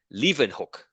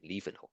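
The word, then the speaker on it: Leeuwenhoek: scientist okay so his his name was Antony van Leen hook that's how you pronounce his name Le hook okay so he he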